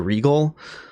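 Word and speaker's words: Regole: not already subscribed to Regal, that's Regal spelled R-E-G-O-L-E. Not, it's pronounced like Regal but not spelled like Regal as in royalty.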